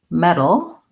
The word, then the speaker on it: medal: metal and we have medal which is something an award that you win this is a flap t it's basically the same these two words are